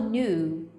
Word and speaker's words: knew: Knew. É como se fosse um U longo, assim, ó.